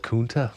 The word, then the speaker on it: Kunta: I like your second pronunciation better. We're going to go with Kunta.